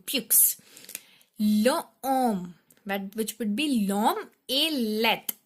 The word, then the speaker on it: l'homme: L'homme, which would be l'homme est laid. L apostrophe, and we know when we pronounce it, though it is starting with H, but when we pronounce it, that's l'homme, a let.